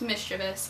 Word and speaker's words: mischievous: cuz I found out that it's actually correctly pronounced mischievous and that's the last time I will pronounce